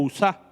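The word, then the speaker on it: Uza: el error de usa, usa o usá para que no suene como usa, le voy a poner el acento en la A.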